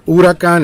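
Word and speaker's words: huracán: sounds very very similar urakan in Spanish and it's spelled the same way it's just not two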